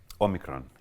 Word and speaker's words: Omicron: Omicron, yes.